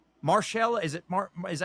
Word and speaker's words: Mahershala: I understand that, but again, in his 60s like Mahershala, is it Is that how you say his name? Mahershala.